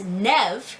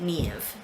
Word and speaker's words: Niamh: So from my understanding, most of Ireland pronounces it Niamh, and the northern part usually pronounces it with 2 syllables, Niamh, and typically I pronounce it Niamh.